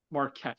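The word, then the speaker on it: Marquand: Richard Marquette, I want to say, if I'm pronouncing that correctly. Marquette. Marquette, thank you.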